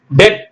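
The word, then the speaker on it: debt: bomb C ஓ எம் Pym gonna சீப்பு பி உச்சரிக்க கூடாது ஆனா பி எழுதணும் டி ஓ யூ டி டவுட் சந்தேகம் டி பிடி டெத் கடன் plus P எல் யூ எம் பிளம் ஓம்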